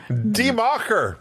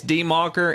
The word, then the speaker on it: Die Macher: If I keep calling it Die Macher, please don't send me hate mail because it's spelled die in English, and so every time I see it, I think that. The D-I-E. That's die. Die Macher. That's die in American.